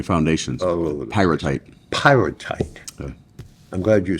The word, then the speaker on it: Pyrrhotite: Pyrrhotite. Yeah. I'm glad you said it because I couldn't pronounce it.